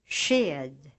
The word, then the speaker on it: sked: SK before a soft vowel is pronounced like a sh sound in English shoe, shine, etc. Listen to these examples. Sked.